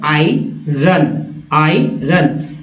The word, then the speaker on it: iron: little word है और इसका उच्चारण इस तरह से होगा जैसे आई जो आपकी आँख है, आई रन, ये ब्रिटिश एक्सेंट, अब ब्रिटिश एक्सेंट आयरन, हम लोग क्या बोलते हैं, आयरन कहते हैं ना भाई, आयरन नहीं किया